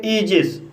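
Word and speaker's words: aegis: इसी तरह से ईजिस, ईजिस शब्द में AE का उच्चारण ई हुआ है, इसलिए इसे ईजिस पढ़ा जाता है।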